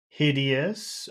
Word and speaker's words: hideous: Now hideous, that has three syllables. Hideous. Which syllable has all of the power, all of the sound? Hid, Hid.